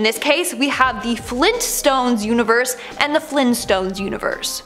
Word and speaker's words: Flintstones: Now, the Flintstones are pronounced as so you would think it would be spelt as so. No, apparently it's the Flintstones with the hard T.